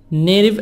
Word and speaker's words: Native: sleeping Native American tribes Native American tribes tea soft D between a and I T between two vowels of D Native American tribes groups